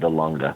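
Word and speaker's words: Dahlonega: no georgia georgia sorry she lives in florida the longa do you mean um oh that's called the lunga d-a-h-l-o-n-e-g-a i can't pronounce it but that's where she she wants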